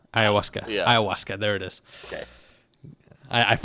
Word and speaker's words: ayahuasca: that you know he he's he he'll do ayahuasa Ayahuasca Ayahuasca there it is okay I I watched Tom